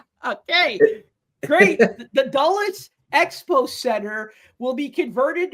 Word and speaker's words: Dulles: Um, so the uh, Doulies Expo Center, is that how you say it? Dulles.